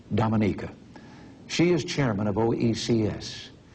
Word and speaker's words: Dominica: prime minister eugenia charles of dominica i call that wrong she pronounces it dominica she is chairman of